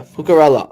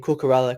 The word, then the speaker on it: Cucurella: I don't know how to pronounce them. I don't know how to spell names. It's hard. Oh, it's right. Yeah, Cucurella.